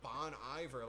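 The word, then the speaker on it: Bon Iver: She was she was like she was like, "Dude, it's Bon Ivor. Like I don't get what you don't understand about that music. Like like why are you trying to pronounce it in this weird like pretentious French way?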